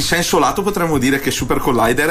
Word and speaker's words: Supercollider: la prima volta detto Ah super collider No assolutamente si dice super collider errore comune errore comune errore comune